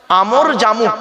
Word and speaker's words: আমর জামু: বললাম বাবা একটু বলেন উচ্চারণটা করেন আমর জামু বলুন বাবা এই নামটা মনে রাখবেন